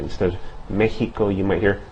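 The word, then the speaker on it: México: Um, in the word Mexico, you see an X, but that X is pronounced like the H in hat or ham. Okay, so Mexico.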